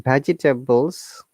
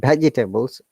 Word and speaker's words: vegetables: Okay, it's in vegetables. You said vegetables. Actually, the second E, which is after G, is silent. It should be vegetables rather than vegetables.